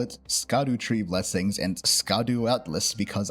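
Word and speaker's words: Scadutree: you they're actually pronounced Shadow tree blessings because of some old English Linguistics that has SC be pronounced like an sh so it's Shadow tree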